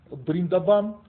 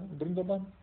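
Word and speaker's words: Вриндаван: Бриндабан. Понимаете? А его именно так произносят. Да, просто никто не знает. То есть они В как Б произносят, да? Бриндабан.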